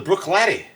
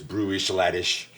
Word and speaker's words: Bruichladdich: all right so the brook lat the brook lat Brook lat it's classic it no listen it really is Brew saladish but now I've heard it pronounced from a Brit yeah brua I don't